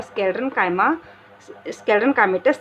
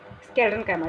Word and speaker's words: स्क्लेरेन्काइमा: कि बना हुआ होता है पैरेन्काइमा, कॉलेनकाइमा और स्क्लेरल काइमेटस सेल का बना हुआ होता है। ठीक है, स्पेलिंग थोड़ी सी गड़बड़ हो रही है। ठीक है, स्क्लेरेन्काइमा, ठीक है।